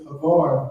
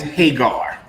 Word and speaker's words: Hagar: Why is Havar being compared to the covenants?